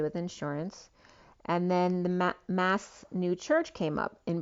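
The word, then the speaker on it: Maß: ma and mass so m a b came up pronounced mass it's swiss spelling a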